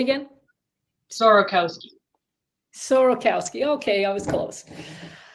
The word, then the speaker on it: Sorokowsky: it up so my first name is Brittany sarkowski yeah sir say again sorokowski sorokowski okay I was close and and of